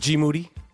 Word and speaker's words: GMoneti: Last name rhymes with confetti.